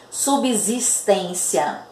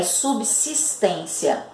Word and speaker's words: subsistência: subsistência tá vocês vão ouvir muitas pessoas falarem subsistência mas a pronúncia correta dessa palavra é subsistência certo subsistir tá subsídio tá bom então é